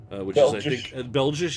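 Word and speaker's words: België: it is Bell Josh Bell Josh is how you say Belgium in Dutch what seriously I'm not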